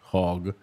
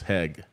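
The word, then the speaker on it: Hague: news comes from hag I think I tackled down how to pronounce this word finally hag in Russian Gaga in in in in in my language my version of English used to be hog and now it's hag the new president of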